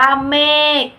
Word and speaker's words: เมฆ: คำ คือ คำ ว่า เมฆ เม อ่าน ว่า เมฆ คำ ว่า เมฆ สะกด ด้วย ค ระฆัง ซึ่ง อ่าน ออก เสียง